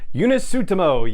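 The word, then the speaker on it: Joonas Suotamo: the renegade rescue and last but not least eunice tsutomo yes that's how you pronounce it i listened to the video very carefully multiple times yuna suttomo who played chewbacca in the action scenes of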